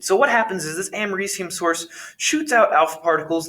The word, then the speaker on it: americium: that radioactive material is americium is how that's pronounced and that is a